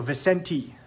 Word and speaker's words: Vicente: It's pronounced T at the end. So Vicente.